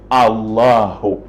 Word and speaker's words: Allahu: et en arabe maintenant, les musulmans disent Al-Ilah. La même chose, Al-Ilah, on a enlevé le Hamza pour faciliter, n'est-ce pas quoi, la prononciation qui devient Allahu.